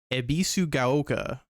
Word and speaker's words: Ebisugaoka: Ebizu gaoka.